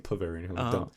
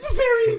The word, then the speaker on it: Bavarian: bavarian bavarian or poverty oh bavarian i was saying poveran it is bavarian cream papa these babies